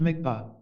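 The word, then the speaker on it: dmigs pa: He explained it as a dmigspa, pronounced migpa, a mental image which can be built up only by a fully instructed Lama through the power of imagination.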